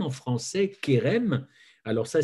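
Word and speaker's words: חרם: veut dire ce mot et rem que l'on prononce kerem en français kerem alors ça s'écrit et rem ou chez rm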